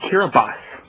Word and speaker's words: Kiribati: That's a Kiribati. Kiribati? It's pronounced Kiribati.